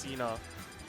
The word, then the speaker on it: CNA: is actually pronounced cena it's a it's a john cena joke apparently but you can pronounce its cna as well it's preference